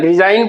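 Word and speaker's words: resign: इसको हम लोग क्या पढ़ते हैं? रिजाइन पढ़ते हैं। तो रिजाइन में देखिए क्या हो जाएगा? ये वाला साइलेंट हो जाएगा।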